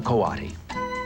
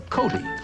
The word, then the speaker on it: coati: This is a Coati. You might have heard him called a Coati, since his name is spelled C-O-A-T-I.